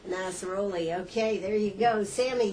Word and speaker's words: Nasrollahi: Nasrollahi. Nasrollahi.